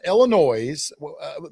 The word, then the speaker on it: Illinois: He came down He drove down from Illinois. I'm sorry. You're not supposed to pronounce the S. He drove down from Illinois.